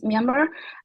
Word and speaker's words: Myanmar: Is that the right way to say the country? Yes, correct. Now it's Myanmar.